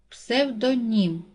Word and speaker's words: псевдонім: падає на перший склад псевдонім наголос падає на третій склад новий наголос падає на